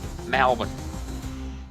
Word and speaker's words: Melbourne: Words that have L in them tend to change it to Al, so that Melbourne becomes Malvern.